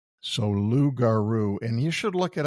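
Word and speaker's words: Logaroo: And that's spelled L O G A R O O. So Lou Garuru, and you should look it up because this stuff feels great.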